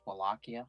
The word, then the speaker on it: Wallachia: So, Actually, it's pronounced Wallachia.